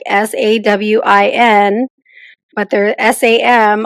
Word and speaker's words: Samhain: So it should be like SAWIN, but there's SAM. I don't hear an M anywhere.